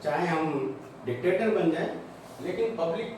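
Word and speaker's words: Locke: अब इसका pronunciation लॉक है नहीं कर देना, लॉक है, इसको लॉक पढ़ते हैं, ई साइलेंट पढ़ता है।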